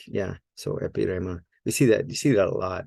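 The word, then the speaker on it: ἐπίρρημα: Epirema.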